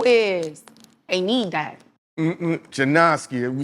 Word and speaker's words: Jennaske: Mm- Janoski.